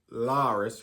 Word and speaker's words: Larys: And his other son, Larys, rhymes with Varys, he didn't kill his brother.